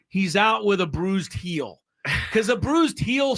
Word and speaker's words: Gil: Luis Hill pronoun or spelled gil g but pronounced heel yes um Bullpen session